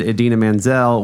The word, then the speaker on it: Idina Menzel: he said my friend idina menzel which is pronounced exactly as it's spelled was funny Maya Rudolph